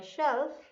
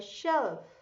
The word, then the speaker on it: shelf: He slept on my toy shelf in the middle of my toys. He slept on my toy shelf.